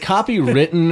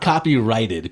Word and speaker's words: copyrighted: material now is it copy written or is it copyrighted people say copy written but i don't think that's right because it's spelled copyright r-i-g-h-t so you think it'd be copyrighted yeah yeah i copyrighted